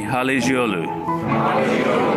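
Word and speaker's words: Halıcıoğlu: So the C becomes a G, and the G does not exist. So everybody with me, Halicioglu.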